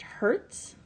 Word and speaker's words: hertz: The unit is abbreviated Hz. It's pronounced hertz.